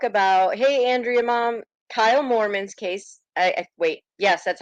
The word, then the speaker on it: Moorman: So we're actually going to talk about, hey, Andrea, Mom, Kyle Moorman's case.